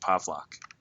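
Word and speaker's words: Pawlak: The W's are pronounced like V's, which is why my last name, which is spelled with the W, is pronounced Pavlak.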